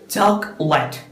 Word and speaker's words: chocolate: Chocolate. 2 syllable ആണുള്ളത്. First one is chalk and then let.